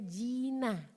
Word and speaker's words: Gina: Nama saya tuh Gina, tapi keluarga manggil saya pakai pelafalan J, makanya manggilnya Gina. Tapi tulisnya Gina bukan Jina.